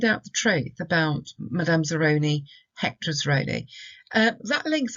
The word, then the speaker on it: Zeroni: myth Madame Zeroni distress falls in that middle syllable on the Obed it's a Zeroni like and we can link it to work